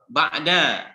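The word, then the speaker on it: بعد: Ba'da, bukan ba'du ya.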